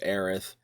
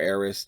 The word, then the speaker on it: Aerith: and the death of Aerith or Eris, depending on your pronunciation preference, it's like I always thought that was very much overrated and worth joking about.